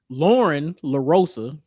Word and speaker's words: Lauren LaRosa: Lauren Larosa, I hope I pronounced that right.